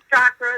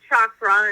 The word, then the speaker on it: chakra: But that's great that you're pronouncing it properly, kind of like chakra is really chakra, and there's many other